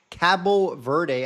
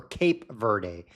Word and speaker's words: Cabo Verde: Cabo Verde, as they are actually pronounced in Portuguese.